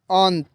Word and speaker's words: अंत: और न का उच्चारण हम वर्ड में आपको बताते हैं, जैसे अंत, अ ऊपर बिंदी त, अंत। तो यहाँ पे न का उच्चारण हो रहा है, तो इसको आपको ध्यान देना होगा दोस्तों।